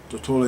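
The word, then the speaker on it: Tortola: Toa is spelled T O R T O L A.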